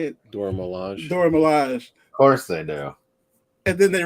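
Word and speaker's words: Dora Milaje: the door how you say it dora melania dora milaj firstly now and then they realized we could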